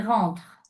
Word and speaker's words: rentre: sa sa douche et sa ville va travailler bien il rentr attention rouia il rentre tu ne dois pas prononcer le e final oui il rentre il rentre à 17 bien 18h bienouf Il s'occupe et c'est important.